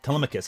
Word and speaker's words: Telemachus: I keep saying Telemachus, because whenever I read the Odyssey, that's how I read his name. Oh, Telemachus. Like, no, Telemachus, I'm realizing it's actually pronounced.